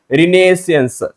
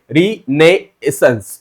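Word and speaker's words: Renaissance: बोला गया है इंडियन रिनेशियंस ओके रिनेसेंस ओके तो इसका प्रोनाउंसिएशन थोड़ा सा आपको मुश्किल लग सकता है लेकिन इसका मतलब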